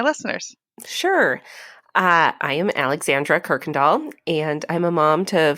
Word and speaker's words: Kuykendall: our actual neighbors and my good friend Alexandra Kuykendall is here so welcome welcome hi Trisha I know it's a friend when you pronounce my name correctly oh I just wish